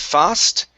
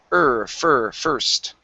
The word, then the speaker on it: first: The word first. Instead of fast, it's first.